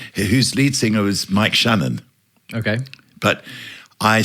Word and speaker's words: Channon: so yes Michael Roger so it's pronounced Shannon is it Mike Shannon yeah he scored over